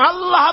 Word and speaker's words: আল্লাহ: আল্লাহ পাকের উচ্চারণটা হচ্ছে, আল্লাহ পাকের নাম উচ্চারণ হচ্ছে আল্লাহ। মুখটা একটু গোল হয়ে যাবে, বলেন আল্লাহ আল্লাহ।